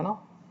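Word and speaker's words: に: কাছাকাছি তবে এই যে নিবর্ণটির বাংলা উচ্চারণ অনেকটা নি এর মত হবে এটি উচ্চারণ আমরা নি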